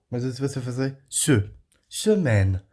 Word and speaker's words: semaine: É o AI. Dando um som de E. É um som entre E e E, geralmente é. Tá? Semaine. Tá? E aí o N aqui só se pronuncia o N.